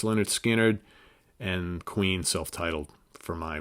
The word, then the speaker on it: Lynyrd Skynyrd: the first montrose album beats out Lynyrd Skynyrd's pronounced Lynyrd Skynyrd and queens self-titled for my runner-up spot all